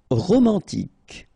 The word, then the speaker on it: romantique: Romantique, remember, Q-U-E at the end, K, romantique.